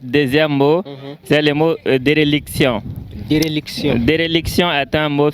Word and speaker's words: déréliction: C'est éréliction ou bien déréliction? Déréliction. Déréliction. Oui. Déréliction s'écrit D et accent aigu, R et accent aigu, L, I, C, T, O, N.